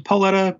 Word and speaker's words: Paoletta: des is pronounced to pauletta but I say the O so you can find